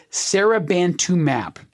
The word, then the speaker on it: seribantumab: name of the drug, Seribantumab. And I'm emphasizing that last syllable, mab, because M-A-B, when you see it spelled out, that is a suffix at the very end of the drug name, and that tells you it is a monoclonal antibody.